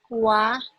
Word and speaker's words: は: In Japanese grammar, you read it. Wa des. Yeah. And you write it like that. But pronounce wa des.